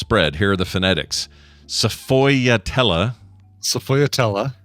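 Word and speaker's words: sfogliatella: Uh, so hello Strog Leatella and Bio.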